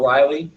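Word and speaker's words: Rili: There's a bunch of what they call, you hear it pronounced different ways in the hobby, really or Riley, R-I-L-L-I shrimp.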